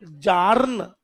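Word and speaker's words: Bjarne: जनता जवाब मांग रही है, कौन था वो? बजाने। बी साइलेंट है, और ये जानने भी नहीं है। बोलो जार्न। जान नहीं, जार्न।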